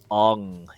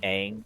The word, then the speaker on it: Aang: technically pronouncing his name incorrectly because it was pronounced different in the movie, but the kid who plays Ong in the Avatar: The Last Airbender live action M Night Oh, Shyamalan you mean movie, Aang? Aang.